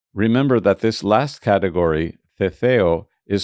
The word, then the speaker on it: Ceceo: Remember that this last category, Ceceo, is spelled C-E-C-E-O.